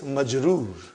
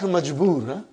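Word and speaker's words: مجرور: Now if the noun ends with a kasra, be it a tanween or one, we will say the noun is majroor. Not majboor, majroor.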